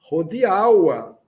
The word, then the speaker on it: hodiaŭa: Hodiaŭa. Hodiaŭa, temo. Do congresso estas la hodiaŭa temo. Vamos prestar atenção na sílaba mais forte, a penúltima sílaba, né? Hodiaŭa temo.